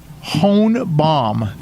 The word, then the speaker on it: Hornblom: It's Hornblom. There we go. Well, if you know that, just say it right.